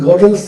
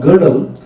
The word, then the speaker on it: Gödel: smashed to smithereens by a young scientist called Gödel, G-O-D-E-L, some people pronounce it Gödel or Gödel, in which he said there are